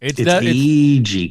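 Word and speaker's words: Agee: with Aggie with Steve Ag and uh and I'm never sure how to say his last name AG it's definitely AG definely I've heard it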